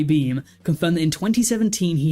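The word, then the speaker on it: Beahm: statement on Tuesday beam I think his name is pronounced guy beam confirmed that in 2017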